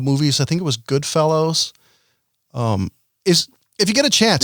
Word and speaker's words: Goodfellas: Goodfellas. Fella. Jesus Christ, I don't work in a fucking university. Fella. Goodfellas.